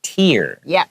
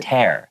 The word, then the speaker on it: tear: We say tear, like ear, tear, right? But if it is talking like about the verb to 撕破, it's tear.